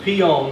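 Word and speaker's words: Pignon: And the mayor from Pion, that's how you pronounce this, called and said, why don't you come to Pion?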